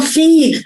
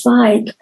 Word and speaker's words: Feig: Oh, Paul Feig. Oh, I always thought it was Feig.